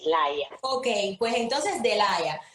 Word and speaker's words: Laia: Ah, yo lo leí en español, se pronuncia Laia. Y de Sí, Laia. se escribe Laia, o sea, L-A-I, latina, de puntico, A, y se pronuncia exactamente así, Laia.